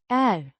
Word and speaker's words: är: Är Means am, pronounced. är A short and somewhat flat a. sound.